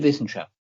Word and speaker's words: Wissenschaft: Die fröhliche Wissenschaft. Say the last word one more time. Wissenschaft. The W in German is pronounced V.